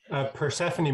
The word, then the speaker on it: Persephone: Persephone Market Garden is how we pronounce our farm.